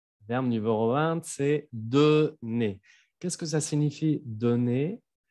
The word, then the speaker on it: donner: Le verbe numéro 20, c'est donner. Qu'est-ce que ça signifie donner? Dar. ¿Ok? Y no me vayan a pronunciar la R. Recuérdense que con los verbos al infinitivo pronunciamos al final E.